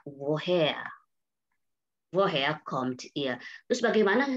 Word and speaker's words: woher: Tapi untuk kata ini dibaca woher.